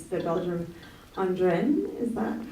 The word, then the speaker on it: Ardennes: This, in my opinion, is a very beautiful area, and if I might get the pronunciation wrong here, but it's the Belgium Ardennes, is that how you say it? Ardennes.